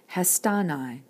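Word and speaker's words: ἱστάναι: haste hesta plus ni accent is fixed on the syllable before the nigh like this and you get hestanai now for the present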